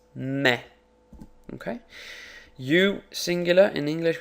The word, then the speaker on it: me: I punch me and in Spanish it's spelled exactly the same way but it's not me it's me okay you singular in